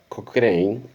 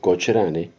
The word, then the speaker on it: Cochrane: cargo de un almirante de apellido cocin o si se quiere escribir cochrane o pronunciarlo como quieran cocin digamos el almirante cocr o cochrane era el que mandaba